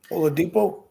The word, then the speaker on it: Oladipo: You got Miami has Victor Aldipo. Is that how you pronounce it? Oladipo?